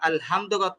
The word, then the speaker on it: الحمد: তো এই যে হায়ের জায়গায় সামান্য একটা ওই একটু চাপ দিয়ে না পড়ার কারণে কিন্তু অর্থ চেঞ্জ হয়ে যাচ্ছে। তো এটা আমরা উচ্চারণ করার ক্ষেত্রে আমরা এই বিষয়টা সবচেয়ে বেশি খেয়াল করব, আমরা হাটাকে চাপ দিয়ে পড়ছি কিনা।